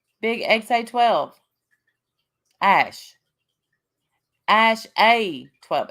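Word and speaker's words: X Æ A-12: Okay, so Musk said his son's name is pronounced X-A12. The X is just X, and the A12 is just A12.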